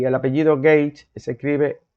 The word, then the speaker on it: Gage: i n a s Fineas y el apellido gage se escribe g a g e gage como si